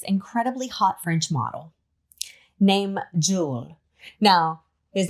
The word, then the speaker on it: Jules: hot French model named Jewel. Now, his name is spelled Jules, J U L E S, but he is very adamant about the S is silent. So, Jewel. His name is Jewel.